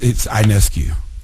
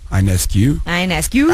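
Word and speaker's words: Ionescu: It's Inescu. Inescues. I ask you evil. It's spelled I O N E S U. I'm just uh imagining the O is silent.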